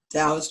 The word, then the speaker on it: Taos: There is a church on Taos Trail. How do you pronounce that? Taos Trail.